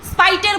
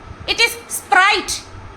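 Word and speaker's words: Sprite: না মেয়েকে নিজে ঠিকমতন সে স্পাইটের বোতল স্পাইট স্প্রাইট উচ্চারণ লেখা দেখিস না এস পি আর আই টি ই স্প্রাইট স্পাইটের বোতল ধরে খেয়ে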